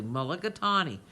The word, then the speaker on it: mulligatawny: I say it correctly, mulligatawny.